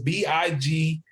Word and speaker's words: Big Marh: Everybody tries to spell it how they sound it, but I put the H at the end because the way my dad says it, he says Big Marh, Marh.